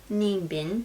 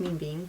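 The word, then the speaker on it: Ninh Bình: So we head to Ninh Binh, I think it's pronounced Minh Binh, where there was National Park and more pagodas.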